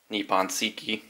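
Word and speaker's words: Nippon Seiki: inlay they sell this little decal that's the nippon siki that's how you say it a little decal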